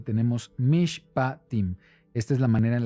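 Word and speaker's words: משפטים: eh Tenemos aquí que la porción se llama mishpatim Sí así es como se pronuncia fonéticamente Así es como se escribe en hebreo y tenemos mish patim Esta es la manera en la que se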